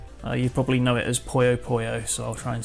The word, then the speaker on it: Puyo Puyo: So in Japanese we say Puyo Puyo, and I lived in Japan for 5 years, so that's kind of stuck. You probably know it as Puyo Puyo, so I'll try and say that.